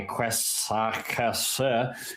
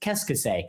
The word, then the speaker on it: qu'est-ce que c'est: I was not saying it correctly. My qu'est-ce que c'est was wrong. It's just qu'est-ce que c'est.